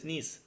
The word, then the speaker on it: gneiss: তারপর নিস হয়, GNEISS, নিস, ঠিক আছে। যেটা গ্রানাইট থেকে যেটা হয় নিস, এই জি এর উচ্চারণটা থাকে না, NEISS, নিস হয়, ঠিক আছে।